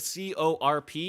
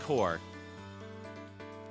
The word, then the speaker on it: Corp: It really fucked me up when I learned Corp, like with C-O-R-P, is actually just pronounced Core. My whole life I just was pronouncing them like Corp.